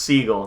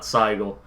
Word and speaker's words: Siegel: It's pronounced Siegel, not Seigel.